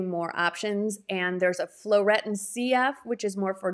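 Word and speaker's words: phloretin: the skinceuticals flow retin it's spelled with a ph p h l o r e t i n floretin c it is a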